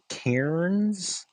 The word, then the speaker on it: cairns: But cairns, yeah, cairns. Cairns. Right. I don't feel like I say it right when I say it. Cairns. It's like Karen without the E.